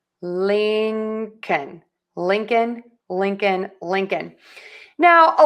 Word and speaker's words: Lincoln: Then we are going to add a K. k Tip of the tongue stays low. Air just puffs out of your mouth. Then we have the short uh the schwa uh and then end with an N. n Tip of the tongue is behind the top front teeth.